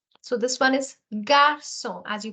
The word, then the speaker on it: garçon: This G alphabet followed by A is pronounced as ga. So this one is garçon, as you pronounced it earlier, garçon.